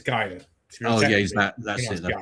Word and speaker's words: Gaia: Oh, you mean Guy? It's Gaia.